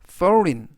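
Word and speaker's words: foreign: 뜻은 서명하다라는 뜻이 되겠습니다 이번 단어는 foren foren forin이라고 발음하시면 되겠고요 뜻은 외국의라는 뜻이 되겠습니다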